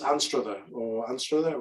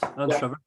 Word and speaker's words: Anstruther: And in fact, the town she's in is called, this is where Lee, you'll have to correct my pronunciation here. It's Anstruther, which is... You're correct, Anstruther.